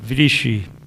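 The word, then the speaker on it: Βρύση: I'm going to pronounce it Vrishi, and I'm going to explain why later.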